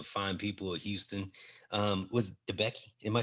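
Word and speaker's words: DeBakey: Was DeBecky?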